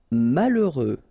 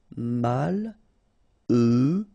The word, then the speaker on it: malheureux: Malheureux. H doesn't exist, okay, so you get mal, heureux. Final X not pronounced.